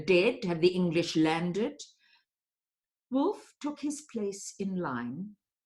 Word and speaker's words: Wolf: Someone snickered, and Wolf, Wolef, according to the Yiddish pronunciation, demanded silence with an irritated gesture.